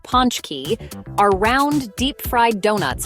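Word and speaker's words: pączki: birthdays and holidays Poland's beloved potski pronounced Ponch key are round deep fried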